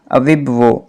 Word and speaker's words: Iwegbu: देखते हैं कि जोनाथन अविबुओ इसकी प्रोनाउंसिएशन है, इसकी स्पेलिंग्स तो IWEGBU हैं, लेकिन हम इसको अगर प्रोनाउंस करेंगे तो अविबुओ।